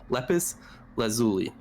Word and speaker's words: lapis lazuli: Wait, lapis lazuli. There you go. I always forget how to pronounce that.